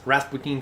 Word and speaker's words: Rasputin: Now the only thing you need to pronounce Rasputin correctly is the European R.